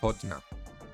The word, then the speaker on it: partner: So actually there's a New Orleans slang where men refer to each other as partner, but it's pronounced more like podna.